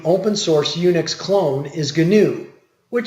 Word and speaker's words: GNU: So now you know why Stallman called his Unix clone GNU, because GNU's not Unix. He also insists on pronouncing it with a hard G. That's why I keep saying GNU instead of new.